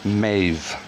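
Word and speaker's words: Méabh: as well it's pronounced maeve yet again null v uh in the irish language a v phonetically can be made with a bh or an mh and then we'll go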